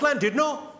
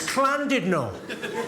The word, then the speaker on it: Llandudno: This guy, front and centre, where you're sitting there, face like fucking thunder, went, "It's not Llandudno, you bloody fool. It's Llandudno. In Wales, the double L is pronounced with a C."